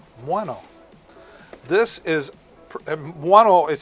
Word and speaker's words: Muano: I used to say Muano, but I was sent an audio file, and they said, this is how you say it, Muano.